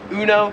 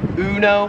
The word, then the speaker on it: Uno: popular card game uno in america we pronounce it uno it's kind of like the emu one uno here it is more pronounced like you know number seven is caramel